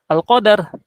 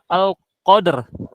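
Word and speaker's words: القدر: takdir yang di mana takdir dalam bahasa Arab disebut alqadar alqada dan qadar tapi dia membacanya dengan alqadr alqadr ya Nah fungsi dari kita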